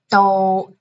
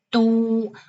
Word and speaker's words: 都: Number 1, 都, for example, we say 都是 something something. Second pronunciation, 都, 首都, okay.